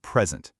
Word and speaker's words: present: But if I put the stress on the second syllable, it becomes to present, a verb, to give a presentation.